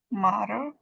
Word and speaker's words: matter: Can you pronounce this one? Matter.